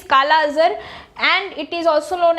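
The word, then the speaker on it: kala-azar: आगे आते हैं, दैट इज काला अजहर, है ना, इट इज नोन एज, बहुत लोग इसको प्रोनाउंस करते हैं काला जर, बट इट इज काला अजहर एंड इट is also known as leishmaniasis, ठीक है, एंड the agent is Leishmania दोनोवनी।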